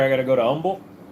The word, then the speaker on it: Humble: In Texas, the H is silent in Humble. Just to help you. So, when I go there, I got to go to umble.